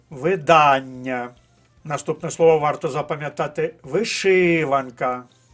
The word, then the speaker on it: видання: падає наголос у слові перше слово має наголос на другому складі видання наступне слово варто запам'ятати